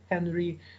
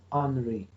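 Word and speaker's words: Henri: this problem was unrefiled please pay attention that it is written with the age in the beginning but he was french that's why we have to pronounce it not as henry but as henry henry fire angry fired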